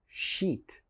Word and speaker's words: sheet: coke the next word is sheet like a sheet of paper sheet sheet and a lot of my students of course is a bad word you don't want to say if you said the person listening why are you saying are you angry you want to say sheet sheet the next word is